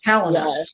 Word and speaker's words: Palahniuk: I was always like, how do you pronounce his last name? Oh, he's so dark, but I love it. Yeah, it's Palinur.